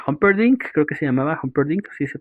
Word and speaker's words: Humperdinck: Buttercup ama a Wesley, el el el granjero Wesley, pero el el príncipe Humperdinck, creo que se llamaba Humperdinck, sí se pronuncia así, eh quiere a Buttercup para sí,